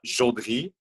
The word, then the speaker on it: Jodry: Uh well, it's a it's a French last name, so you you would pronounce it uh Jodry, but I guess in English you could go for a short J.